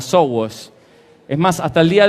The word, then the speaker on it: SOWOS: Perfecto, porque yo le llamo Somos, porque básicamente se llama Somos, aunque se escribe con la M dada vuelta y suena como a SOWOS.